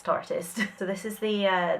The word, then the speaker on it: Tartist: Different people seem to pronounce this different. I've heard it's tartiest. Tarteist. I'm sure the pun is artist Tartist. So we're going to go with Tartist. On this channel it's Tartist.